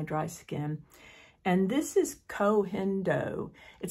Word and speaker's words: Koh Gen Do: because of my dry skin and this is cendo it sounds like Co jendo but it's pronounced cendo it's a Japanese line that's actually made in